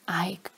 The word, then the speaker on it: Eik: the name of Eik, which is pronounced Ike, and it's Dutch for oak.